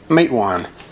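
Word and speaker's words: Matewan: of my hand so this one is pronounced mate one good old mate one mate one massacre home of the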